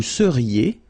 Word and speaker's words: seriez: Vous seriez. So here when you've got this Z at the end, then you get the sound E.